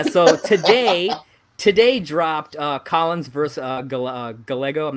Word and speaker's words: Gallego: for it, and it's Gallego. So that's how I do know I do know that the L is pronounced more with a Y.